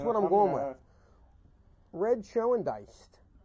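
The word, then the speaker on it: Schoendienst: Red Schoendiest. I know there's an N before the ST. That's a silent N. It's gotta be. Red Schoendiest.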